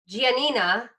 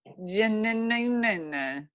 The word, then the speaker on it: Giannina: on Love is Blind, G and D, or Giannina. You said it right. Okay, yes, and Damian. We were worried we were going to say it wrong. Giannina.